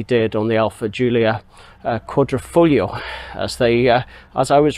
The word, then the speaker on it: Quadrifoglio: on the alpha julia quadrifoglio as they as i was reminded it's uh pronounced uh quadrifoglio with the silent g and uh and not uh with the hard g quadrifoglio so hey maybe it's